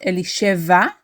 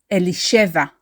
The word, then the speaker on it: Elisheva: is not Eli cheva it is not elisheva it is elisheva we stress the she syllable elisheva elisheva is referenced